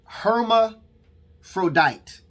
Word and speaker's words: hermaphrodite: word is uh uh they pronounce it here herma frodite okay y'all know what